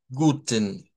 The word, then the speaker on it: guten: guten, Escuchen ese es solo la N. Nosotros podríamos pensar que es la EN, porque pareciera, pero es que lo que pasa es que cuando articulamos la N, es un sonido nasal, esa característica de de la N, de ser un sonido nasal, es lo que nos hace escucharlo como que lleva una E, pero no lo lleva.